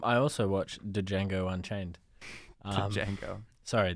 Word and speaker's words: Django: also watch Django Unchained Django sorry the D is silent um exactly such an